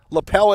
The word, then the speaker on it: Leppel: Mackenzie Leppel. Lapel, as they called her in Wanakee. The French pronunciation.